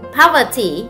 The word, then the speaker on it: poverty: Âm 2, destruction, poverty, đuôi y dài thì nhấn cách nó một âm, tức là âm thứ nhất.